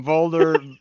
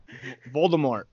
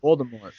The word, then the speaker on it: Voldemort: on say his name older more volder you said that last time pulled her off you can't say that again voldemort yeah there you go you're getting it jared voldemort we haven't seen his